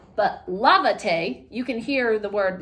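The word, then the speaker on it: lávate: don't put an ax down here this says levate because the stress normally is found on the second to last syllable Tay is your new last syllable so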